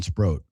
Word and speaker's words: Sproat: Brandon Sproat, 2 syllables then 1. But Sproat and Drowan both have the long O sound, and it's like I just can't keep the two.